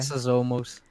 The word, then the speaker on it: Foxosmos: Foxosomos. Foxosomos. Like you gotta pronounce each O as an O. Okay, Foxosomos. Every single O, just make the O sound.